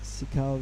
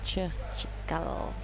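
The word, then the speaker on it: Cikal: way of Kandui, and Sikal Richie Abiasa Nur is our second Indonesian surfer in that heat. Sikal or Chikal? Chikal. Yes. In Indonesia, the C is usually pronounced as Chikal.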